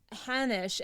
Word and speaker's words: Hanosh: We're here today with Hanosh. Am I saying your last name right? Yep, it rhymes with Spanish.